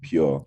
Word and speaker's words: Pur: Is it pronounced Pur or how do you pronounce it? So we were pronouncing it like pure.